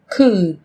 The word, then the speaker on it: could: yellow, Một số từ sau đây sẽ có chữ cái L trong cách viết nhưng chúng ta không cần phát âm.